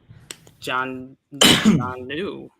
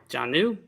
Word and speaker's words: Jonnu: say then it's John New. Jonnu? John New. How do you spell that? JONNU. John New.